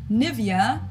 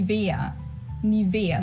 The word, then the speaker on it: Nivea: native speakers usually say Nivea Nivea in German we say ni Nia so the emphasis is on the E Nia this is a